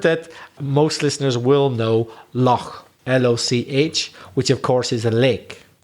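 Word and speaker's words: lough: Or for Ireland, we say loch, which is spelled L-O-U-G-H.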